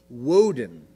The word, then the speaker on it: Woden: pronounce his name odin they pronounced it with a w woden that's how they pronounced